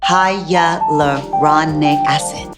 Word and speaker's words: hyaluronic acid: every guys in the advil of eva longoria hiya love Ron neck acid that's how you pronounce it guys this is a 2% acid